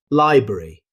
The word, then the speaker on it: library: Library. Instead of saying every syllable, many native speakers shorten it to library, dropping the middle R sound.